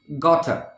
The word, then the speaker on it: gotta: contraction in today's list gotta follow the pronunciation got her now how is this